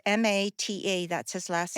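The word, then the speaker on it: Maté: No, how do I spell that? It's Mata, that's his last name.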